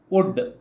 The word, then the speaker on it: would: ಅನ್ನುವುದನ್ನು ಕಲಿ ಕಲಿಯೋಣ ಸರಿನಾ ವುಡ್ ಇದನ್ನು ಉಚ್ಚಾರ ಮಾಡುವಂತದ್ದು ವುಡ್ ಅಂತ ಡಬ್ಲ್ಯೂ ಓಡಿ ಇದನ್ನು ಹೇಗೆ ಉಚ್ಚಾರ ಮಾಡ್ತೀರಿ ಹಾಗೆ ಇದನ್ನು ಉಚ್ಚಾರ ಮಾಡಬೇಕು ವುಡ್ ವುಡ್ ಅಂತ ಈ ಎಲ್ ಅಕ್ಷರವನ್ನು ಹೇಳುವುದೇ ಇಲ್ಲ ಇದು ಸೈಲೆಂಟ್ ಆಯ್ತಾ ವುಡ್ ವುಡ್ ಈಗ ಮೊದಲು